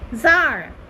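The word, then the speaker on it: tsar: যাবে যেমন এই যে যার যার ঠিক আছে সি টা উচ্চারণ হয় না যার আচ্ছা যার অফ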